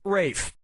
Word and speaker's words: Ralph: 1 yeah ray Fiennes first name is spelled like Ralph but pronounced Rafe and his brother Joseph